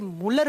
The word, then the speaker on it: Mulder: इसकी खोज की थी मुलर नाम के साइंटिस्ट ने, MULDER, लेकिन इसको प्रोनाउंस करते हैं तो डी साइलेंट हो जाता है, इसे मुलर बोल दिया जाता है।